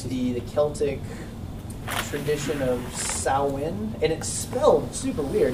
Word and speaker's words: Samhain: the Celtic tradition of sow in and expelled super-weird is spelled Samhain but it's pronounced saw win so that's what we